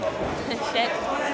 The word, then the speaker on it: Cheik: Cheik.